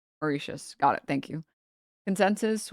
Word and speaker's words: Mauritius: Oh, it's it's pronounced with an sh. Uh, Mauricius. Is that right? Mauritius.